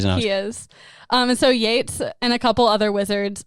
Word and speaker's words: Yeats: was easily stopped by Yeats and like a couple other wizards. And so they stopped him at the stairs. One quick thing. It's pronounced Yates. Yates.